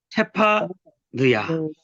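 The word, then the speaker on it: צְפַנְיָה: 체파, 느야. 이렇게 체파, 느야. 뭐예요? 뜻이 뭐라고요? 구속의 하나님이 감추셨다. 스바냐. 스바냐가 이 체파 느야예요. 원래 발음이. 스바냐.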